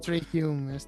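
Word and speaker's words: Trai Hume: como son el capitán Dan Neil, como son Trai Hum, o Hume, no sé cómo se pronuncia Sí, tampoco. Trey Hume, sí.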